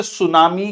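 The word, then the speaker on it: tsunami: अच्छा, सुनामी को हम टी साइलेंट है तो सुनामी, ठीक है, तो सुनामी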